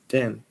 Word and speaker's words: the: Now, the biggest troublemaker is this word, the. So when you see that word, you go like this. Whoop. Like that. And then it sort of ends up, rather than a eh sound, but the.